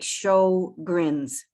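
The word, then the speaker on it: Sjögren's: just uh keon pronunciation it's like show grins show brains yes yeah so apologies to the swedish where it would be sort of suggest but anyway sjogren's so the latest criteria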